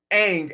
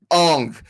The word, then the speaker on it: Aang: And the horrible way they pronounce Aang as Ong.